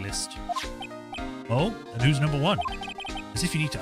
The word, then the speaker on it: Juan: know I keep trying I keep default into saying Juwan but that's not how you say it's one Juan corrida and Matt and